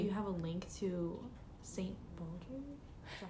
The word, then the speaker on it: St. Baldrick's: Like in your Instagram bio, I saw that you have a link to St. Baldrick.